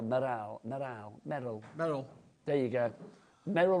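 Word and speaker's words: Meral: Sylvia, Anne, Amy, Cellini and Meryl. Cellini, I don't know if I'm saying it right. Or Meryl, M-E-R-A-L, Meryl. Meryl. There you go. Merrill rhymes with Beryl.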